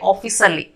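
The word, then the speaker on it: ಆಫೀಸಲ್ಲಿ: तो इधर ना को हम साइलेंट कर देते हैं, नहीं तो स्किप कर देते हैं, बोलेंगे ऑफिसली।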